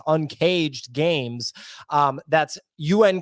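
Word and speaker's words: UNKJD Games: out to uncaged games that's un kjd it's pronounced uncaged games um that's un K jd.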